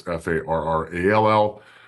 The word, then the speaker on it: Farrall: It's like Will Ferrell, but he spells his name wrong. It's Farrall.